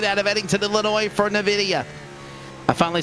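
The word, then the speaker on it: Nvidia: dark horse racing out of edington illinois for navidia i finally said it right producer nine seasons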